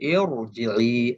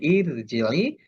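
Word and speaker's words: ارْجِعِي: যদিও আমরা শব্দটা যদি শুরু করি আলিফের নিচে একটা অস্থায়ী জের দিতে হবে, জের থাকা সত্ত্বেও এটা আমাকে মোটা করে বলতে হবে ইরজিই। আমি যদি বলি ইরজিই সেটা ভুল উচ্চারণ হবে।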